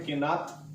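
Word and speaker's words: קנאת: यहां पर जो शब्द इस्तेमाल किया गया वो हिब्रू में शब्द है, एक्चुअली लिखते हैं किनात, QINAT, लेकिन बोलते हैं किना. ओके, उसका प्रोनाउंसिएशन ऐसा है.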